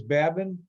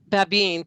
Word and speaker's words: Babin: Babin. Did I pronounce the name improperly? Monica? Babine, but that's Babine. close.